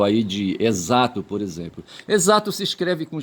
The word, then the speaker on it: exato: Exato se escreve com X e se pronuncia exaco, exato e não exacto, certo?